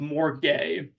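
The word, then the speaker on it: MORGAI: In the Queer Metadata Collective, we have chosen to use the framework of More Gay, which stands for Marginalized Orientations, Relationship, Genders, Asexualities, and Intersection, pronunciation being more gay.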